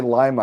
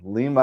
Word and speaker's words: Lima: Every time I say Lima, I think the bean. Lima, I think Peru. Yeah. Well, the Lima bean is the city's mascot too. There you go. That's a good way to remember the pronunciation then.